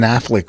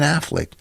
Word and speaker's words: Affleck: important to tell it was okay uh ben affleck was good i'm looking and going oh that's ben affleck but him and matt damon how are you